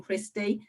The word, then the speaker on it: Christy: confused by my name my first name christy um it's not very indian sounding or it's not pretty indian enough and and i get that every day people get my name wrong i get called kirsty every day and it confuses people